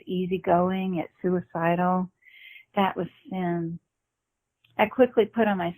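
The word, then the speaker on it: Cyn: You have to say her name is Cindy, but she called her Sin. Right. That's yeah. Sin. So Sin was C-Y-N.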